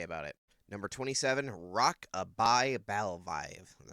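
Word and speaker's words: Rock-a-Bye Bivalve: Number 27, Rock-a-Bye Balvive.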